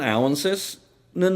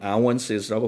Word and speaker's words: ounces: 그러면 91 ounces는 뭐가 됩니까? 온스 아니고요. 한국말은 온스지만 영어는 ounces,라고 발음하셔야 됩니다.